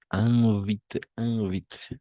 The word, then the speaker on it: invite: Oui, le ministre invite, d'accord? Toujours IN, on va prononcer un, nasal, son nasal, d'accord? Invite, pas invite, non, invite, d'accord? Son nasal, invite, et tout ça.